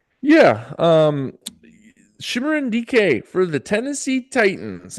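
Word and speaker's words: Chimere: It's it's it's not Cameron. It's it's Shimmerin or Shimmer, just so you know.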